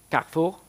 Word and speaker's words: Carrefour: Carrefour, as it's pronounced in their home country.